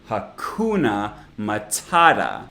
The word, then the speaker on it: hakuna matata: hakuna matata obviously obviously the middle syllable in each word is the stressed part hakuna matata and all of the vowels in unstressed syllables are actually schwas like i said this